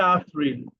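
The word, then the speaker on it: April: এপ্রিলকে বলে আফরিল, আফরিল। Spelling same কিন্তু প্রোনাউন্সিয়েশনটা একটু ভিন্ন, আফরিল।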